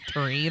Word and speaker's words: tureen: It's not a soup turret. A turret's like a gunship. It's like a soup tureen or something.